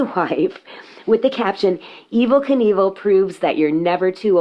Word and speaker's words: Knievel: which was his wife, with the caption, "Evel Knievel proves that you're never too old to be a pimp."